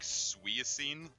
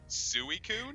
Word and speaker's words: Suicune: I used to know, they pronounced it, it's like Suiacine. That's almost And as I'm like- off as I I'm remember. like, what the being. fuck are you talking about? I'm like, Suicune? They're like, no, Suiacine. And I'm like, do you not know what English is even?